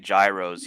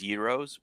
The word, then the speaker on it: gyros: So to avoid people calling it gyros, he spells it with a Y, so everyone can pronounce it properly as euros.